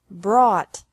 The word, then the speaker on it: brought: Bring, brought, brought. Buy, bought, bought. Catch, caught, caught. Fight, fought, fought. Seek, sought, sought. Teach, taught, taught. Think, thought, thought. Remember that the G is silent in these verbs.